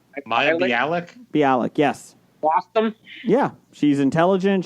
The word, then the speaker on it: Bialik: Bialik, yes.